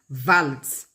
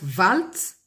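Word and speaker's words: Waltz: J'appelle j'ai je prononce valt parce que ça peut être prononcé valt tout comme ça peut être prononcé W. En tout cas c'est V donc W A L T Z tout comme vous pouvez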